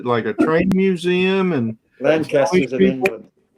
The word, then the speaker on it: Lancaster: I get yelled at when I pronounce it like that. Yeah, don't know you're from out of town, Rodney, if you go up there and say, "Where's Lancaster?" It's Lancaster. Lancaster. It took them about 6 months for me to pronounce it right.